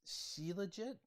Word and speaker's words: Shilajit: excited about this her it's she legit I I actually had to look up how to to pronounce it I think that's as close as it get CIT or CIT uh